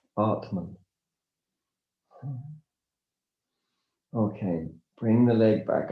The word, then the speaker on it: atman: It's interesting that the German word for breathing, atmen, is almost identical phonetically to the Sanskrit word for essence self, atman.